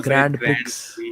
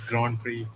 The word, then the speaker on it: Grand Prix: Prix from praying yeah it's not a grand picks but it's Grand Prix of Grand Prix that's